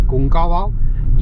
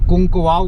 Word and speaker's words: कुंकावाव: बोल दिया था, शायद कुंकवाव बोल दिया था। तो यहाँ के कुछ व्यूअर्स थे जिन्होंने मुझे करेक्ट किया कि सर कुंकवाव नहीं है, कुंकावाव है।